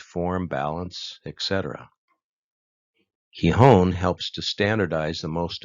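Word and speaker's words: 基本: it sounds like key the i is pronounced as an e the kanji key equals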